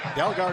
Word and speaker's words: Dalgaard: this actually the uh dalgaard is another great read by vasquez that's going to be a high boot against winzadi delgaard is how it is in the pronunciation correct for tampa bay let me explain